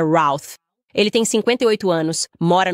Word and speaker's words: Routh: Acho que ontem eu estava chamando ele de Ruth. Parece que a pronúncia correta é Routh.